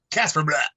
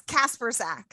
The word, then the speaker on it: Kasprzak: How do you pronounce it? Kasprzak. It's Kasprzak.